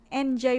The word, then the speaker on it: Entjoy: Itu Enjoy Production itu bacanya enjoy aja, Enjoy Production. Jadi kenapa itu bukan enjoy langsung NJ Joy itu, tapi ada T-nya karena sebenarnya enjoy itu singkatan kan. Dari entertain you to feel joy.